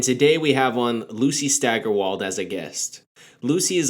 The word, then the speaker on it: Steigerwald: good way to spend a Saturday hey I pronounced it stagger walled right well even though my ends are cousin pronounces it that way I think officially Steigerwald so a little less on the stagger I